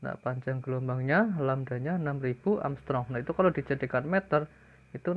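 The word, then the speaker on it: Ångström: gelombang cahaya 6000 Amstrong itu dibacanya Armstrong ya kalau ada huruf a di atasnya ada bulat kulitnya yang bertanya maka energi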